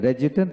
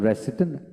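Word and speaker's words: resident: Advocate, advocate, রেজিডেন্ট, রেজিডেন্ট, আবার আমরা রেসিডেন্ট বলি, রেজিডেন্ট বলি, রেজিডেন্ট আমেরিকান উচ্চারণ, রেসিডেন্ট ব্রিটিশ উচ্চারণ, দুটি এখানে দুইটা উচ্চারণ লেখা দরকার ছিল, যা হোক আপনারা রেসিডেন্ট বলবেন, রেজিডেন্ট বলবেন।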